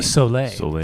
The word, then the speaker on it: Soleil: Soleil. Soleil. That is French for sun.